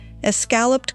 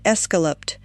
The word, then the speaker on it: escalloped: Number 16, escalloped corn. And yes, the old cookbook spell it escalloped with an E, and the old ladies said it that way, too, and I am not going to correct them.